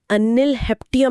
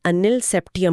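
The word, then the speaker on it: Ununseptium: तो 107 का नाम अनिल हेप्टियम नहीं होगा बल्कि अनिल सेप्टियम होगा।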